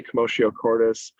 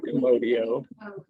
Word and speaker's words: commotio cordis: So this is going to be CommotioCordis. I had to look up how to pronounce that because I was 100% sure. So Yeah, it's not commodio. Very Latin.